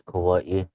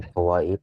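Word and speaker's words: Kauaʻi: this but the island of Ka Kawa Kauaii Hawaii well people in Hawaii pron people like the residents and locals says Kauaii but people like um visiting the Hawaiian islands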